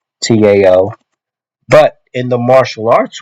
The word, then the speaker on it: Tao: I'm a martial artist I pronounce it Dow with a d as it is that is